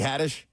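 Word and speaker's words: Haddish: The comedian Tiffany Hattish. I think Will made the joke this morning. Tiffany Hadish. Hadish. Yeah. Give him a pronunciation guy.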